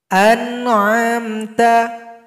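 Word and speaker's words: أنعمت: masuk pada gunna naqis anamta tidak boleh dibaca an'amta Nah itu cepat namanya jadi bacanya ada tempo gunanya tapi sedikit anamta kemudian yang terakhir ghunna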